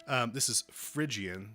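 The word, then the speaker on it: Phrygian: you go e to e um this is frian spelled with a p h r y g i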